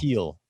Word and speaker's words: Thiel: I guess I've never actually heard his name pronounced. Thiel.